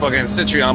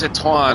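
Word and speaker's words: Citroën: I call the Citrian cuz it's spelled CI T R E O N. I just call it the Citrion, but everybody's like, "No, Hector, it's Sichuan."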